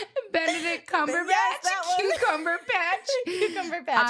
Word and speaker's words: Cumberbatch: I'm gonna say Cucumber Patch. Benedict Cumberbatch.